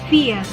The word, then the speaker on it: vier: Kemudian ada kata vier, ie dibacanya i panjang, jadinya vier.